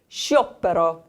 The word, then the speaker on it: sciopero: SC followed by I, but then also an O there. Okay, so it's kind of a blended sound. You say sciopero.